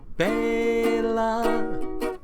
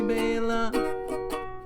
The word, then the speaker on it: Bela: But we've mispronounced his name for far too long, when we should pronounce his name Bela. That is how you say Bela. That's the only way, Bela.